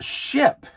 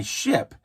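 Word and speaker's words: Shyp: There also was another delivery app service called Ship, spelled with a Y instead of an I, Ship.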